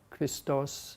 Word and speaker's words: Christos: but in any event christos christa christos that is the correct correct pronunciation so this was a